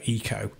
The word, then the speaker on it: Ico: Because I mean, to me, it sounds like Ico, or you know, Eco, as it's pronounced, which makes you think